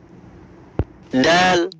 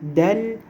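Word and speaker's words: د: Dal, dal, là, vous collez un peu la langue à votre palais supérieur, c'est-à-dire vous collez un peu le bout de la langue à la partie supérieure de la bouche.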